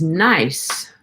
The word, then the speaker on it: gneiss: Today's word is nice. And we're not talking about someone who is nice. We're talking about a geological formation called gneiss. It's spelled Gneiss.